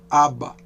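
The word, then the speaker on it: אבא: Toda vez que o alf estiver assim no final da palavra, ele não tem som. Então a gente pronuncia só aba, ab.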